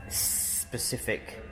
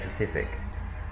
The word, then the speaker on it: specific: I think the Le Mans will be a specific. I always pronounce the S's because Chell always moans at me because I say Pacific.